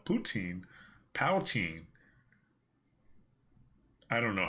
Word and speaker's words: poutine: do you say it poutine poutine or pulteen poltine poo po there's no l poutine poutine i don't know